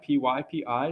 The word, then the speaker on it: PyPI: This website is pronounced pypi, P-Y-P-I, stands for the I forget what it stands for.